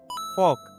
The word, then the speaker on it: folk: The correct pronunciation of this word is folk. हिन में L silent आहे.